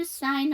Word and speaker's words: sign: sign에서 G가 묵음이에요.